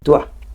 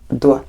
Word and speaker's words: doit: Doit. So it gets easier. You're saying doit, doit, like D-W-A.